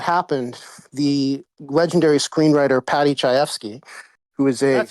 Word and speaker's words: Chayefsky: Now, shortly after that happened, the legendary screenwriter Patty Chayefsky, who is a that's how you stunningly pronounce it.